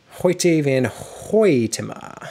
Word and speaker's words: Hoyte van Hoytema: Hoyte van Hoytema.